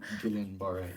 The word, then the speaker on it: Guillain-Barré: So you faced a life challenging and changing period where you were diagnosed with, I don't know how to really pronounce it, GB syndrome. Guillain-Barré, yes.